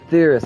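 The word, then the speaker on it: Etheirys: is boundless and pure you're theorist that's how you pronounce it all right we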